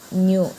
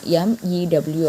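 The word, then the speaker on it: μ: இட் is also known as the absolute refractive index and it is denoted by the Greek letter mu, pronounced as mu, MEW அப்படின்னு pronounce பண்ணணும்.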